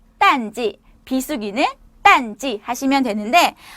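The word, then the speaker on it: 淡季: 발음은 딴지, 발음은 딴지, 발음은 딴지.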